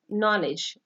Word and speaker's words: knowledge: एंड the last word of silent words is knowledge. Here k is silent, and then d is silent, e is also silent.